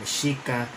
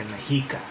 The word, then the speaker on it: Mexica: So in Nahuatl, the X is utilized to represent the sh or SH sound, like in Mexica or Mexico, today pronounced Mexico, which still retains the X based upon the original pronunciation.